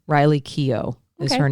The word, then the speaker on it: Keough: I want to, sorry, real quickly, I think it's pronounced Keough. Riley Keough is her name.